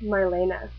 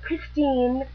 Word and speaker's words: Marina: m a r l n a and it's pronounced Marina not Christine not Christin Sorry Wrong video yeah I know